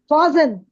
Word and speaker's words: fasten: ஆனா ரெண்டு பேருமே டீயை உச்சரிக்க மாட்டாங்க.